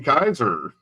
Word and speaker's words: Keyser: We have Jason Kaiser. Hell yeah. Hey, Ladies and gentlemen, need Jason Kaiser. Woo! You pronounced it right.